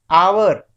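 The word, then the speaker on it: hour: लग जाएगा हमारा एन लग जाएगा जैसे कि आवर तो आवर हमारी स्पेलिंग क्या होती है और यूअर लेकिन स्टार्टिंग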